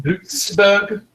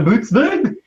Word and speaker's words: Buttsburg: And it's pronounced Bootsburg. A Bootsburg? A Bootsburg. Yes, it's got the bunch of It's got umlauts. useless umlaut.